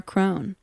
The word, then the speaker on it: Krohn: And you can find my music anywhere where you look up Sarah Krohn. Crohn is spelled like Crohn's disease, but with a K.